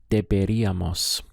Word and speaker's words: deberíamos: Notice we have the accent over the I. This is where we place our stress on the word, on the pronunciation.